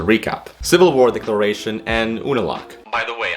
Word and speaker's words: Unalaq: unlock by the way i know the last episode i said unilak a hundred million times but you the letter u is said like you it's just it's just like a reflex well as soon as